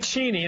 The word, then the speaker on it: Cheney: Dick Cheney, and that's how you pronounce his name, was out last night in